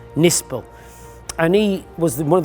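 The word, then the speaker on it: Knispel: people thought was actually German army man called Kurt nispel it's spelled k n i s p l but it's pronounced nispel and he was one of the great exponents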